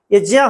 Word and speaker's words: ज्ञ: नाम से जानते हैं वास्तव में इसका उच्चारण ज्ञ नहीं है य ज होता है लेकिन हमारे बोलचाल की